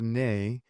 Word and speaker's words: Nye: my name is pronounced Nye, but it's pronounced Nay, also with French background.